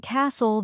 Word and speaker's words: castle: H is silent and Castle the t is silent that's true and the